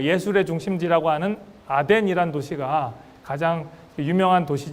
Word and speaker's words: 아덴: 바로 아테네 입니다 근데 아테네를 성경적으로 우리 아덴 이라고 읽습니다 아덴 이란 도시와 더불어 고린도